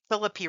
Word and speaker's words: Philippi: I'm I'm mispronouncing it. Philippi Races.